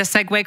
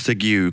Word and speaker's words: segue: did I did I segue quite nicely for you you did segue which I like to pronounce sigu cuz that's how it's spelled you did sigu quite